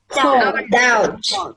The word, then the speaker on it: doubt: Doubt. I doubt that. I really D-O-U-G-T. surely it's not. D-O-U-B-T. Yeah. D-O-U-B-T. D-O-U-B-T. Yeah. What's our silent letter in that? B. I lost my B. It's a B.